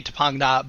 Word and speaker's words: Topanga: So No, it's a good Tongva word mispronounced. It should be Tapangna, but because all of